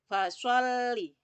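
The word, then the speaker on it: فَصَلِّ: huruf shod diperhatikan ya fasholli huruf lemnya ada tasydidnya Makanya alamnya seperti bacanya double fasholli lirobbika wanhar one How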